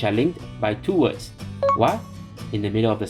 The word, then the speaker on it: は: However, when it is used in the manner like it is now, it is pronounced as wa.